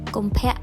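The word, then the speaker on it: កុម្ភៈ: If you want to know how it's pronounced, it goes like this. Kompek 2023.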